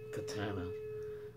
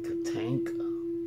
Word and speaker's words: Tatanka: here spider Co katenka I started mispronouncing it I started calling it Katana but now I got to think make sure it's katenka spry cook a tanka